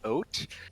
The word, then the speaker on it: Haute: and i think uh clarify that's supposed to be pronounced oat but i'm still calling them hot because i don't think that's right but it but yeah